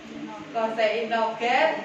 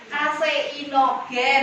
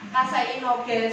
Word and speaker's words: kaseinogen: Yang kata pengucapan keseimbangan Koseinogen dan kosen. Seharusnya kaseinogen ya, bacanya kaseinogen.